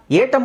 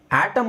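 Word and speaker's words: atom: ಆ ಅಂತ ಇದೆ ಇಲ್ನೋಡಿ ಇದನ್ನ ಏಟಮ್ ಅಂತ ಓದಬಹುದು ಅಲ್ವಾ ಇಲ್ಲ ಅದು ಆಟಮ್ ಅಂತಾನೆ ಆ ಪದದ ಉಚ್ಚಾರಣೆ ಆ ಅಂತಾನೆ ಹೇಳಬೇಕು ಯಾಕೆ ಹೇಳಬೇಕು ಯಾಕೆ ಅಂದ್ರೆ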